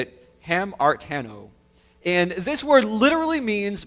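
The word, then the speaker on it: ἁμαρτάνω: The word sin here is, in the Greek, is called, how you say it, hamartano.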